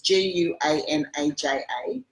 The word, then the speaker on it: Guanaja: getting these 3 kilo bags of this Valrhona Guanaja. Excuse my pronunciation, but it's Guanaja, 70%.